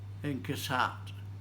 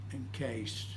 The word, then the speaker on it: Inkcased: Inkcased. No. Try and say it like it's almost 2 words. Encased.